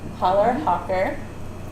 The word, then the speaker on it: Challerhocker: So it is spelled CH, but you don't pronounce the C. So Challerhocker.